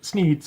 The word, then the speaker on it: Sneed: the shop is called sneeds Feed and Seed where Feed and Seed both end in the sound Eid thus rhyming with the name of the owner Sneed can we get this